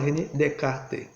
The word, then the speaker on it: Descartes: então de cá né ele escreve descartes com os dois ésses mas não se pronuncia assim é francês e não pronuncia o s em poucas palavras o processo e pronunciou essa então a gente fala de kart então o de cá